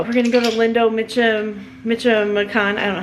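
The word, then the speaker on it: Michoacán: All right, Lindo Michoacan, not Michoacan. Shad told me I was saying it wrong.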